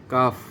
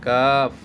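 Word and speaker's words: قاف: এইবার সর্বশেষ এই হরফটার নাম হচ্ছে কাফ।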